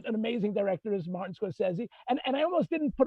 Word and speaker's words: Scorsese: the list because I never know, is it Scorsese? I don't want to look like an idiot. Scorsese. Yeah, you're Italian. You know how to pronounce it.